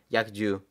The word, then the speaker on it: yakju: go and change that to uh yaku or that's how you pronounce it I think Yak yakju so y a k j u no Capital needed and we're going to go to arrow.